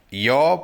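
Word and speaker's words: your: யோர் phone is ringing. யோர் phone is ringing. உன்னுடைய phone ring ஆகுது. யோர் phone is ringing. யோன்னு உச்சரிங்க. யுவர்ன்ற சொல்ல சரியான உச்சரிப்பு வந்து யோ.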